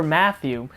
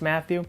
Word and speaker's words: Matthau: then to see Walter Matthew I'm I think that's how it's pronounced it's like a t it's like a h-a-u I'm assuming it's Matthew he's a superb actor Walter Matthau now to me that's